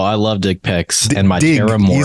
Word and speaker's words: Terrormorph: of people do but it's actually Terror morph and yeah I mean